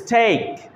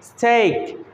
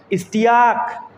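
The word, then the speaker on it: steak: কোনো শব্দে আমরা পাই ই এ পাশাপাশি বসে তাহলে সেটির উচ্চারণ কি, সেটাও কিন্তু long A, নট E, long এ। যদি কেমন, যেমন এস টি ই এ কে, এর উচ্চারণ হচ্ছে স্টেক, স্টেক।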